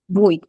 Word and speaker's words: bruit: এই যে নয়েজ হচ্ছে এই যে ভুই, ভুই, Bruit. Bruit. ভুই। হ্যাঁ, Nous faisons bruit. ভুই। নো ফ্রেঞ্জো ভুই। আমি বানানটা ভুল লিখছি, বিআরইউআইটি হবে এটা। ইয়েস, বিআরইউআইটি, ভুই। নো ফ্রেঞ্জো ভুই। এই টিটা কিন্তু বলা যাবে না, এই টিটা বলা যাবে